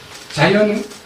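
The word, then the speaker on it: Zion: 자이언 내셔널 파크가 있는데, 자이언이라서 나는 무슨 자이언이 뭐예요? 영어를 보니까 시온을 자이언이라고 읽지 않아요.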